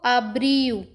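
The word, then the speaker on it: abril: जा नेरू फरवर को फेवे रेु फेवे रेु मार्च को मार्सू मार्सू अप्रैल को आब्रयू आब्रयू मई को मयू माय यू जून को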